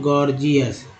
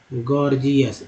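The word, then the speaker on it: gorgeous: ये एक वर्ड है दोस्तों, गॉर्जियस, गॉर्जियस। अब देखिए पहला जी ग, दूसरा जी ज, दोनों उच्चारण हो रहा है।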